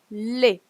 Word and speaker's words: les: singular okay now you have plural plural is Le okay doesn't pronounce less is pronounced Le okay so um you have